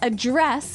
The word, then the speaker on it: address: differently so the verb address has the the stress on the second syllable okay address yes and